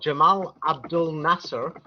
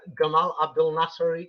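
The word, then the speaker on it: Gamal Abdel Nasser: um a man called Jamal Abdul Nasser but I will use the egyp Egyptian pronunciation because he was Egyptian and um the Arab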